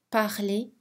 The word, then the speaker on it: parler: Mais la lettre R est silencieuse dans les verbes en ER à l'infinitif. Manger, parler, étudier, jouer.